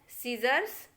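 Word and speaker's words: scissors: तो देखिए एग्जाम्पल, पहला लिखा है सीजर्स, इसमें सी को नहीं बोलेंगे, हम एस को ही प्रोनाउंस कर रहे हैं।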